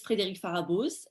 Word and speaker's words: Frédérique Pharaboz: My name is Frédérique Pharaboz. You pronounced it perfectly, Rashad, so no problem on that front.